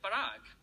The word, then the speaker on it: Parag: colleague, and that is he pronounces my name authentically. Now, not correctly, but I mean authentically, like the Indian way. So my name at home is Parag.